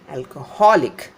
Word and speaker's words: alcoholic: alcoholic, alcoholic. The syllable before this IC extension is stressed.